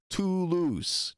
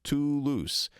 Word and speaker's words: Toulouse: It's the same "oo" we have in English with a word like moon. It's "oo". Toulouse, Toulouse. It's the same It's It's